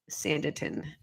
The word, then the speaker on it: Sanditon: on this podcast quiet and still message sanditin is spelled s-a-n as in Knight d as in dog i t o n sanderton yes Kim it's always good to talk about